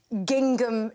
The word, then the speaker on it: gingham: I'm wearing a full-length gingham dress. OK. I like the way you sounded the second G.